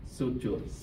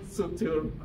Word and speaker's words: suture: is connected by fibrous joint is called the sutur sorry to say it correctly suure suture that's maybe I okay except except there is